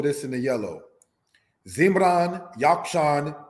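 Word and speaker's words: Jokshan: Yakshan, pronounced in the language as Yakshan, means fowler.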